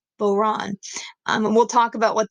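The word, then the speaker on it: bodhrán: so I move my mouse over but that's pronounced boron boron and we'll talk about what that is in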